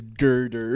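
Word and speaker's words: Gurdurr: It's Girder. It's Girder. It's spelled G-U-R.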